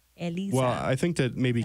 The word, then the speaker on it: Elisa: Speaking of Eliza, because I feel like you pronounce it Eliza. No, do they really spell it with a Z? Eliza, yeah. Oh, no, that's Eliza. Elisa, people. Elisa.